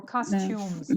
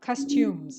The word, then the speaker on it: costume: customs yes some clothes some clothes exactly or costumes not cost did you look that up costume no no okay good because you pronounced it wrong I I thought that you looked it up costumes okay not costum okay I always said before